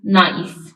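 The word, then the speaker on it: knife: please give me this नाइफ बरा मेरबानी मुझे य छुरी दे नाइफ इसमें के साइलेंट है इसको हम नाइफ नहीं प्रोनाउंस करते बल्कि नाइफ प्रोनाउंस करते हैं नेक्स्ट राइट एन एसे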